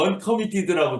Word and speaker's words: uncommitted: 말자 불쌍해서 예 뭐 미드라고 하지 말고 언커미티드고 좀 자를 부드럽게 발음만 해 주시면 예 역시 양 예인데